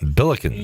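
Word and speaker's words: Billikens: Oh, the I don't know how to even pronounce it. Bilicans.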